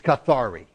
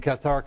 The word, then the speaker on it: cathare: worship Qatar all right the English word is cathari but we were missionaries in Qatar country and I learned Qatar so you're going to put up with my French pronunciation of it but what's interesting is